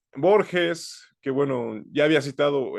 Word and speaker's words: Borges: ídolo de las juventudes y la gente e Borges que bueno ya había citado el expresidente Vicente Fox como borgues ahora sí que mucha gente que se la